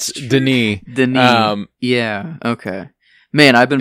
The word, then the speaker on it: Denis: I've always said Villanueva, but there are times whenever you watch interviews, whenever someone says Denis, because it's not Dennis either, it's Denis.